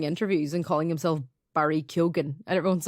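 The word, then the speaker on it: Keoghan: surname and also like GH usually you don't pronounce the G but he's been giving interviews and calling himself Barry kugan and everyone's like okay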